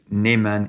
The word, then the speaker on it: Neiman: this is the word niemann pronounced neyman in france which means a forklock